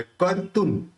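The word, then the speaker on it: कर्तुं: को जोड़े बोलना है, कर तुन। अब देखिए यहाँ पे तू है, उसके बाद स है, तो स बोलते समय दोनों होंठ मिलेंगे नहीं, तो उसका उच्चारण न निकलेगा, तो क्या निकलेगा, कर्तुन स्तवन, कर्तुन स्तव, इस तरह से।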